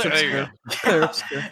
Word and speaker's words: Obscur: I always get this name wrong actually, so it's Claire Obscura Expedition 33. Right? You just got it Sometimes wrong. It's not did obscure. I? It's just obscure. It's There you obscure. go. Claire obscure.